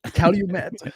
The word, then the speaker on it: Calumet: It's Calumet College. Calumet. There you go. Oh, Cool. so just how it's spelled.